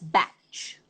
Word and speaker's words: Bach: like i do and there are people who pronounce it as batch okay um both both pronunciations are correct i'm not very sure which one it was there are some who insist that he was dr batch and not dr bach but i call it bach and so i'm going